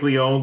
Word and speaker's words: Leone: Now, do you like Leone or Leone? Sorry, it is Leone, isn't it? My apologies. I don't know. Don't they pronounce it both ways? Yeah, that's true. I think Leone sounds more Italian, you know.